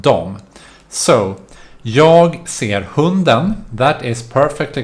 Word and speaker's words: de: to add then or dia that is pronounced dom so yog that is